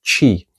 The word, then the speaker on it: qi: And then, there are the Chinese loan words in um Mandarin Pinyin, the letter Q represents a ch-type sound, like qi, pronounced qi, and qigong.